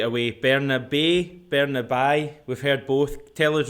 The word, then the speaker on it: Bernabei: Bernabei, Alexandro Bernabei. What is easy in Spanish is that you just need to pronounce what you read.